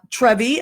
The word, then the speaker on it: Trevi: And, okay, so everybody, I just want to let you know, this is Trevi. Am I saying it right? Yes, you are. Okay. Just like the fountain.